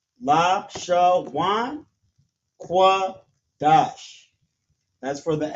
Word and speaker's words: Lashawan: So we have la, sha, and then wa and na right here turns to wan. Lashawan. Qua, da, and sha turns to dash. Qadash. La, sha, wan, qua, dash.